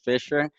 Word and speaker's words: Fishhr: extra h and then the caster started pronouncing it fisher and i was like ah sure yeah so yeah you kind